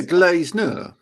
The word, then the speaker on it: Glazener: But I can remember him teaching me how to say his name, the Glazener. He's like, no, everybody does that. Glazed nerd, like a nerd without the D. Yeah, Glazener.